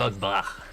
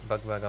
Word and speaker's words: BugBugh: With a H, which I learnt today is silent. Silent. It's silent. It's not BugBugh. Come on, guys. BugBugh.